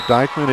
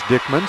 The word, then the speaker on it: Dyckman: Instead of Dyckman, it is Dickman, so we appreciate that.